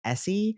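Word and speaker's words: Eassy: for a woman so it was written out e a SS y and pronounced Essie and that was my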